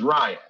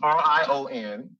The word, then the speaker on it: Rion: For those that don't know, my name is Ryan. It's R-I-O-N. And I always say, I spell it for people because some people are stupid. They see R-I-O-N and they're like, that's not Ryan, that's Rion, as if me and